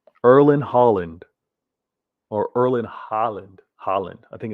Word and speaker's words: Haaland: Haaland.